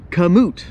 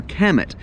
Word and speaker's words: kamut: Third would be kamut, or kamut. I call it kamut because we're in South Mississippi, but it's pronounced, I think, kamut.